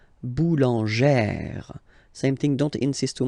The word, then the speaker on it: boulangère: Remember, when you've got this e plus this accent grave, you pronounce it like eh, really open eh sound. Okay, so boulanger, boulanger, and then feminine form, boulangère, boulangère.